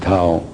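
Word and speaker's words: Thao: T-H-A-O, Tao. That's her name. You can pronounce whatever you want, but I pronounce it Tao.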